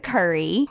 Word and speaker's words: Curry: spell it out and everybody's like curry like the spice I'm like yeah and then when I'm